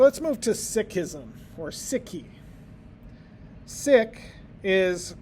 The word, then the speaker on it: Sikh: So let's move to sikism or siki. Sik is pronounced like the English word sik.